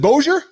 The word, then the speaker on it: Bossier: Hey, how do you say your last name? Is it Bossier? It's Bossier. My dad's French. Oh, so I've been calling it booger, like as in booger from my nose.